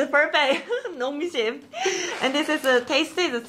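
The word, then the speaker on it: Nongshim: Her pronunciation is perfect. Nong Shim.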